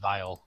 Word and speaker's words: viol: if It's they- pronounced viol. My bad. Viol, vial. yes, viol.